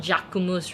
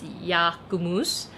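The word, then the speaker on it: Jacquemus: on the french brand yakumus i hope i'm pronouncing that right not jacumus right it's yakumus uh i i don't really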